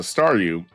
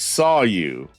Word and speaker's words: Staryu: me was just a Staryu. I could never pronounce its name right. It always ended up sounding like saw you.